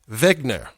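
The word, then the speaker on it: Wegener: And it's a concept or some say a theory hypothesized by German polar researcher hair Alfred Lothar Vegner or we would say Mr.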